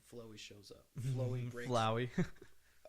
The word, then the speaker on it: Flowey: Flowey. Sure. Yes. That's how you say it.